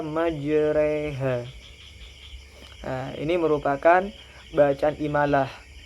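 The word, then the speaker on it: مجريها: tidak dibaca fathah ya harakatnya fathah tapi dibaca kasrah contohnya di sini majroha tapi dibaca majreha nah ini merupakan bacaan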